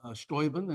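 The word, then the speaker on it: Steuben: Uh, Stoben, as the Germans pronounce it, u show is a fantastic character.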